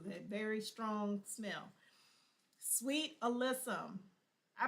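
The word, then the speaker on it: alyssum: Sweet alysum. I pronounce it alissum. Some people pronounce it alysism, but I pronounce it alysum.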